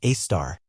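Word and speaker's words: Sagittarius A*: It is an object called Sagittarius A, pronounced A-star.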